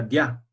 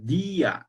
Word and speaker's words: día: Y como la I es una vocal débil, si no tuviese su tilde, sería dia. Así se tendría que pronunciar. Entonces, para que se pueda pronunciar día así separando, tiene que tener la tilde. Si no marcamos la tilde, entonces cambia la pronunciación. Ya no se dice día, se dice dia.